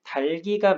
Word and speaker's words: 닭이: 닭 하다음에 닭이 이렇게 돼 있는데 닭은 맞는데 달기라고 얘기를 해줘야겠죠.